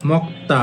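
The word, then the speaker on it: 먹다: যেমন মক্তা অথ খাওয়া। এটা আপনারা গিউকের পরে যদি দ্বিগুত থাকে তখন দ্বিগুতের উচ্চারণ করবেন ত এর মত তখন এটা হবে মক্তা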